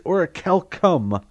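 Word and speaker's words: orichalcum: how to pronounce it it's oracel come it's the hard see sound and it it comes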